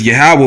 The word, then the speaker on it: Yahweh: The way you say the Most High's name is Yahweh, which means he to be. It's how you write it in the Hebrew. Yahweh.